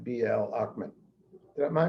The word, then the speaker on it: Ochman: say i want to reach someone like bl ackman am i pronouncing your name right yes you are okay